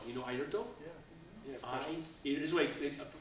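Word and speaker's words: Airto: I'll tell you a little story too about ayto you know ayto this way pronounces it IO it's spelled a i r t o he was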